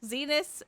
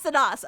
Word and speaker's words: Zenus: I was thinking like the planet Venus. Zenus. It's not the second one. It's not Zenos.